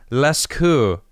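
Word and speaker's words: Lascaux: la la cou lecho i feel like the x's is silent leskew cave paintings estimated to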